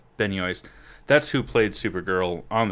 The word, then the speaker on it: Benoist: And Um, Melissa, I don't know how to pronounce her. Benny Yoist. Benoist.